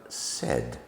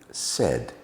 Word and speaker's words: said: Well, phonics tell us that we should be making the A sound there, and it should come out as said, but it doesn't. We use short E, and we make the sound said, said.